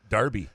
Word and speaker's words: Derby: be when Graham learns Derby county is pronounced Darby yeah I that up the other day on the show I know it's Darby County I watched a